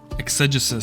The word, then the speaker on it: exegesis: over again properly until I got it right exegesis spelled e ex e g s i s